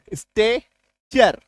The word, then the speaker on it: stature: STATURE, स्टेचर, ठीक है। पॉस्चर, चारागाह इसको है पॉस्चर बोलते हैं एक्चुअली में, लेकिन दोनों उच्चारण इसका चलता है।